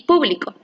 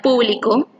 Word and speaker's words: público: Por ejemplo, cuando decimos publico y público. En la primera palabra, publico, la sílaba tónica es pli y le da una